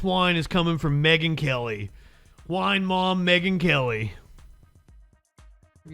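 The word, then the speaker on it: Keleigh: miles and his wife whose name I think is Kaylee Keely will listen to it Kelly okay Kelly but it's spelled weird anyway so the ad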